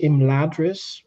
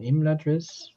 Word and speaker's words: Imladris: So, they say Imladris rather than Imladris, which is close enough, I guess.